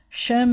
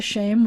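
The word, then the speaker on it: שֵׁם: name or reputation um when i was growing up we would pronounce it as an a and not an e i told you in modern israel now that two dots like that is is most often pronounced as an e and so you'd say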